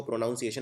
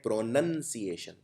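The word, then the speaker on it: pronunciation: लिखते हैं सिएशन, प्रोनाउंसिएशन, लेकिन इसको प्रोनाउंसिएशन नहीं बोलते हैं, इसको बोलते हैं प्रोनंसिएशन। इसका प्रोनाउन यानी सर्वनाम से कोई लेना देना नहीं है, प्रोनाउंसिएशन यानी उच्चारण।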